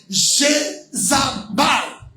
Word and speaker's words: Jézabel: Vous savez que le nom Jézabel signifie épouse de Baal. En fait, la bonne prononciation, c'est Jézabal, qui veut dire épouse de Baal.